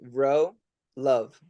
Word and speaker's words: Wrocław: then the L like they say the easiest way to pronounce it is just say row love row love love easier